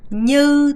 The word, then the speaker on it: như: 얘기할 수가 있는데 자, 이 như 할 때 발음이 느 안 되고요. 제가 말했죠. như 하면서 이게 사실 너무 발음 안 되시는 분들은 new를 빨리 하시면 되는데 사실 이거 추천드리진 않아요, 여러분. 이 연습을 하시면서 발음 내려고 하면서 new라고 하셔야 됩니다. như thế, như vậy 혹은 như vậy.